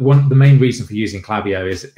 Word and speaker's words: Klaviyo: I know, but the thing is like if I say Clavio, I can spell it, but if you say Clavio, you start second guessing yourself.